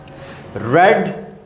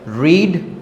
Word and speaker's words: read: Read is the past participle form of the verb read. The spelling is same but the pronunciation is different. Read, read, read.